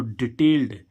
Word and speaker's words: detailed: तो डिटेल्ड, इसको क्या पढ़ेंगे हम? डिटेल्ड। देखो अब इसमें क्या आ गया? डा। क्या आ गया? ईडी का उच्चारण डा।